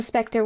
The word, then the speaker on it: Spectre: But you still pronounce it as if it were E-R. So... Oh, I see. So Spectre would be still pronounced the same way.